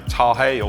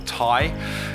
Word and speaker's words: Tahe: certainly were purchased by tahei or tai as it's pronounced a couple of years